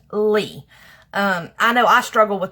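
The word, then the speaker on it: Leigh: I did have just my name out there, Lee, and yes, just so everybody knows, it is pronounced L-E-I-G-H, it is pronounced Lee.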